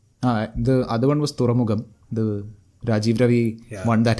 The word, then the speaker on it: തുറമുഖം: The other one was Thuramugam, the Rajeev Ravi one that has been in the Is that making how for it's a while. pronounced? Yeah, തുറമുഖം. Thuramugam. Okay. Thuramugam. തുരയല്ല തുറ. Thuramugam.